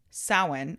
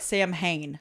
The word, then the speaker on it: Samhain: It's called Samhain or Samhain. Samhain? Sure. It looks like Sam Hain. Like, that's how it's spelled. Oh, that's But confusing. the Irish word is Samhain.